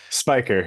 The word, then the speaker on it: Spicher: should have asked you right away how it's pronounced Spiker you got it right the first time most